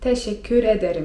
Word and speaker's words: teşekkür ederim: 'Dziękuję' to po turecku: teşekkür ederim (czyt. teszekkür ederim) Czyli razem ten zwrot by brzmiał: İyiyim, teşekkür ederim.